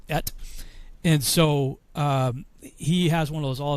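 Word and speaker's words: את: He calls it the Et Watch, because that's how you pronounce the Aleph Tav is Et.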